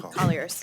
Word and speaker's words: Colliers: Colliers, yes.